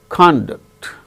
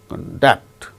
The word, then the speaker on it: conduct: as verbs for instance conduct conduct the first syllable gains stress when it is used as noun conduct but it is used as verb conduct examinations are conducted okay similarly perfect it